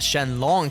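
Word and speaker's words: Shenlong: do summon sh R pronounced Shen long here like in the original Japanese but instead of being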